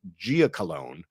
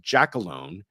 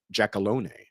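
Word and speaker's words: Giacalone: is I have been pronouncing the porn man's name wrong all this time. I always called him Gia Colalone. It is not. It is Jackalone.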